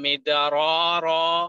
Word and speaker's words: مدرارا: The first ra was pronounced happy, and it should be pronounced with an awesome sound. Try it again. No. يرسل السماء عليكم مدرارا.